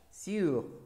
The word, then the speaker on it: sur: Sur. Bien. Y la siguiente, su. Su. Atención a la pronunciación, ¿d'accord? Sur. Su. Bien.